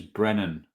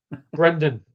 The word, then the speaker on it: Brendan: I mean, we should disregard it because you keep on pronouncing his first name's Brennan. Go on. Yeah, whatever. You only know him because he plays for Wales. Brennan. Brendan.